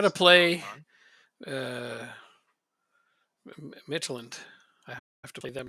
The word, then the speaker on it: Midtjylland: uh, Midtjylland.